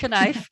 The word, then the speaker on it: knife: that you pronounced it, knife, you know, it's one of those English words that people learning English as a second language really struggle with because we don't pronounce the K, and kids really struggle with as well.